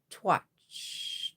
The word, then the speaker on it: cwtch: Pronounced rhymes with hutch. So twitch, twitch, twitch, twitch, switch, switch.